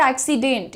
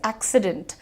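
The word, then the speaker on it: accident: और बहुत बड़ी जनता है जो एक्सीडेंट बोलती है, बट इट इज नॉट एक्सीडेंट, इट इज एक्सीडेंट। डेंट, light रखो, ठीक है।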